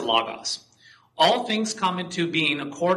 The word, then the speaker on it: Logos: Logos or Logos, okay? I tend to pronounce it Logos.